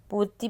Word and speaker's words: पूर्ति: पे तो बुद्धि नहीं होता बुद्धि होता है पूर्ति पूर्ति होता है ति नहीं होता पूर्ति हो